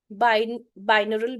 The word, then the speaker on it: binaural: काम करे, तो यूट्यूब पे मैं आपको एक स्पेलिंग बता रही हूँ, लिख लो, BINAURAL, बाइनरल बीट्स बोलते हैं इसको, BINAURAL, बाइनरल बीट्स।